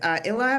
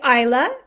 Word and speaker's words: Isla: Okay, third up is Illa with U4U Teen. Illa, did I pronounce that correctly? Hi, it's actually Isla and.